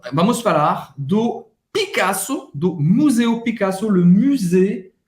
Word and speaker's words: Picasso: só que vai ser Picasso e não Picasso. Picasso com sotaque francês, ok?